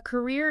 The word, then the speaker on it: career: A career is your professional life trajectory. The emphasis shifts entirely. Career. The second syllable holds all the weight.